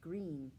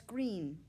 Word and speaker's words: Greene: is green that's green with a silent e at the end and i just moved